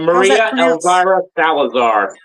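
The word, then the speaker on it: María Elvira Salazar: Maria El Maria Elvara Salazar.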